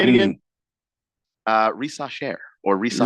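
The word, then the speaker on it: Risacher: either racher or rise CH sound in French is a sh sound so anyway crap say it again uh rasher or R depending on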